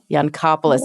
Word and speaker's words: Yancopoulos: How do you pronounce it? The Yancopoulos Innovator Award? Yancopoulos Innovator Award.